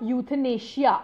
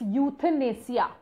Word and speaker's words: euthanasia: Our next word is euthanasia. Now this is not euthanasia. Okay, please see the pronunciation. It's euthanasia.